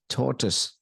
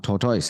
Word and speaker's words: torus: this word here is torus torus it's like Torus it's not totoys it's totus so point one that